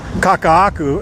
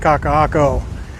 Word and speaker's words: Kakaako: Like I called when we were coming back, I called it uh Maka poop uh uh Kakahaku instead of Kakahako.